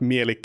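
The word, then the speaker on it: Mielikki: Funny enough, if you don't know, Mielik is I think it might be in like D&D lore, it might be pronounced differently, but Mielik is how it's pronounced in Finnish because it's actually a Finnish deity.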